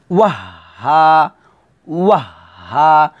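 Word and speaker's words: وهاجا: হা, ওয়াহ হা যা, এখানে কিন্তু সবাই অনেকেই ভুল করে, তো এটা একটু খেয়াল করুন, ওয়াহ হা ওয়াহ হা, ওয়াও গিয়ে হাকে ধরবে, আর হার উচ্চারণটা কোথা থেকে, হলকের শুরু থেকে নিয়ে আসতে হবে, ওয়াও হা জবর ওয়াহ হা আলিফ জবর হা, ওয়াহ হা ওয়াহ হা, এভাবে বলতে হবে, মানে একটু থেমে বলতে হবে, ওয়াও হাজবর ওয়াহ বলে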